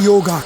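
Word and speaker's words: योग: Kari yoga. Karyantar yoga. Karantar Yog in the during daytime, and morning Yog. Actually, in the Indian parlance, it's Yog. But India, it is Yog.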